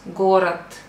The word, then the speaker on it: город: Город, but you pronounce город.